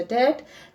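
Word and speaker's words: debt: सही टाइम नहीं है डी ई बीटी बी is silent so we will pronounce it एज अ डेट एंड put here full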